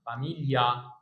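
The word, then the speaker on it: famiglia: الجي ما تتقلش تاني الجي لو جه وراها ال اي خلاص مش موجوده كده هتلاقي في كلمه مشهوره قوي اسمها فا ميشيل الجي على طول اسمها فاميليا فاميليا هنا فيلي فيليو هنا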